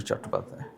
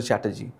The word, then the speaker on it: Chattopadhyay: Or Bankim Chandra Chatterjee, right? Because English could not pronounce Bengali surnames, right? So I am a Bengali, so they could not pronounce Bengali surnames, so Chattopadhyay became Chatterjee, Bandyopadhyay becomes Banerjee, right?